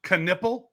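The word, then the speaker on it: Knueppel: Canipple.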